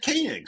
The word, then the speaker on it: Koenig: I've been watching a lot of Space 1999 lately, so I've been saying Koenig. But I believe he pronounces it Koenig.